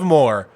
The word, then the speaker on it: Moher: How do you pronounce Cliffs of Moher? Like I just did. The Cliffs of Moher.